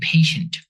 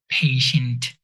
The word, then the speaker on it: patient: You have to be patient, or there is a patient. In English, most consonants are pronounced especially at the end. So patient, you have to be patient, not patient.